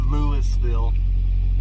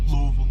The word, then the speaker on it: Louisville: I'm in Louisville Lord Lewisville you're not from Louisville that's how they say it Louisville yeah 109 miles away